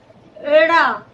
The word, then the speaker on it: ड़: क्योंकि जब हम अड़ा और ढ़ का उच्चारण करते हैं तो हमारी जो जीभ होती है मूर्धा पर जो टकराती है वो झटके से टकराती है, जोर से टकराती है।